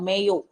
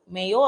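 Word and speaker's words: Mayo: அப்போ வந்து கவர்னர் ஜெனரலா இருந்தவர் யாரு அப்படின்னா Lord மேயோ. மேயோ ஆர் மாயோ எப்படினாலும் ப்ரொனவுன்ஸ் பண்ணிக்கோங்க. ஓகே, சில புக்ல மேயோன்னு கொடுத்திருப்பாங்க தமிழ் மீடியம்க்கு, சில புக்ல மாயோ அப்படின்னு கொடுத்திருப்பாங்க. Okay, relativity theory.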